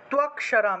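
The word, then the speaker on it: ত্বক্ষরম্: তাহলে ত্বকশারাম, এখানে দেখুন ক্ষিয় আছে, ক্ষিয় থাকলে ক যোগ মূর্ধন্যর সাথে ভেঙে যায়, তাহলে ইয়ে ত্বকশারাম, ইয়ে ত্বকশারাম।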